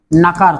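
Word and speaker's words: know: हा नॉट म्हणजे नकार हा नॉट म्हणजे काय नकार तुम्ही कशाला नकार दिला की त्याला म्हणतात नॉट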